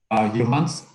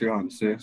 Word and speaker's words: Johans: Johans? Hi, good evening. It's actually pronounced Johanse.